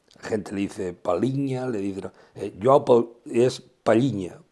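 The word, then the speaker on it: Palhinha: paigna en portuguesa dice yo hago paliña bien pronunciado gente le dice palinha le dice yo es palinha palinha que juegan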